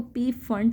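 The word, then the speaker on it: Pfund: Paschen series, bracket series, कुछ लोग इसको पी फंड सीरीज़ बोलते हैं या कुछ पफंड सीरीज़ बोलते हैं. आपको जो सूटेबल प्रोनाउंसिएशन लगे आप बोल सकते हैं. मैं इसको पी फंड सीरीज़ बोलूँगी.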